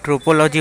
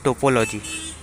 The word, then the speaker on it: topology: And mind की कोई ट्रोपोलॉजी बोलता है, बट एक्चुअली इसका प्रोनाउंसिएशन होता है टोपोलॉजी।